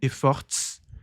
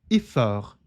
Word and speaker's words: efforts: Uma outra dica de pronúncia valiosíssima em francês, quando a palavra se termina com consoantes, muitas delas são mudas, muitas delas não se pronunciam.